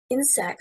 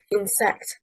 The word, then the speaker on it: insect: Insect, stressing on the first syllable, means a small creature. Insect, stressing on the second syllable, is incorrect.